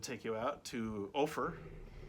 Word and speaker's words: Ophir: Then on day 3, I decided to take you out to Ophir, rhymes with gopher, a little mining town where they had a big sign that said, "Go away, don't come in, we're virus free."